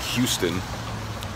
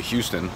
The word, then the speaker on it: Houston: So in New York, there's a street called Houston Street, but it's spelled like Houston. And if you say Houston, if you're not from New York, you say Houston. And anyone who's from New York immediately gets angry and corrects you.